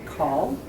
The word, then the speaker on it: Cahill: Amanda Cahill, which is how you pronounce her last name.